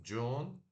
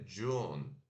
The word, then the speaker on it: June: meio depois nós temos John né que é Junho J O N E como se você June né mas se pronuncia John né D eu sou de